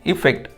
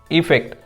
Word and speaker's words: effect: And another one, effect, which begins with the letter E, is pronounced with the sound E. Affect, effect.